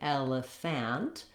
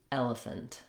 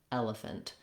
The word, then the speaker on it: elephant: But in elephant, you can hear I don't say elephant. There's no ah sound here. In fact, that vowel is so reduced it's almost not even there. It is typically a schwa or an I sound, but the reduced vowel is very short, and I'm almost going right from the f to the n, fnt, elephant, elephant.